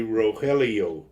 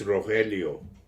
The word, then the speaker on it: Rogelio: I understand that because if you say my name in English people say Rogelio no I just say git um I've gotten that a lot of times and I say it's Rogelio yeah that's my real